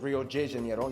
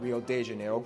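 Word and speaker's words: Rio de Janeiro: that's right it's pronounced Rio J Jano not R de Jano get it right we're not in Mexico this is Portuguese not Spanish this was done in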